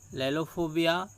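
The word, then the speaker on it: lalophobia: लैलोफोबिया, लालियोफोबिया दोनों प्रोनाउंस करते हैं।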